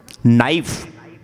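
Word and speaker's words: knife: अंग्रेजी में आप बोलते हैं नाइफ। क्या स्पेलिंग है? के एन आई एफ ई के क्या है? साइलेंट है।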